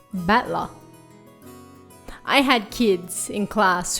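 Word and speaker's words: 戦人: So it's made up of the characters for fight and person, and it's pronounced battler.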